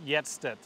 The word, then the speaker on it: Hjertstedt: It's Hjertstedt, Y-E-T. Hjertstedt.